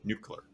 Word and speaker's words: nuclear: Can you say the correct way to say nuclear?